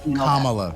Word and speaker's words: Kamala: It's made, let's talk about Kamala saying that Biden was racist when we're talking about Kamala rhymes with comma, the punctuation, or mama.